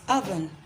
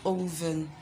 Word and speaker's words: oven: um which other word it's oven not even it's Evan Evan Evan